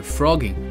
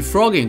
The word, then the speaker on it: phrogging: 像这样的行为，美国人把它定义为 frogging，与 frogging 读音相同，字面意